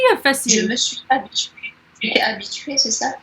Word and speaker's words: habituée: me suis habituée. Tu es habituée, c'est ça? Je me suis habituée. Je me suis habituée.